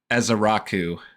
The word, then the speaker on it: Ezeiruaku: Oh, I gotta get the pronunciation again. This one was nuts too. Donovan Ezaraku.